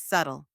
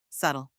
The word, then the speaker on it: subtle: the correct pronunciation is subtle notice anything missing that's right the B is silent let's break it down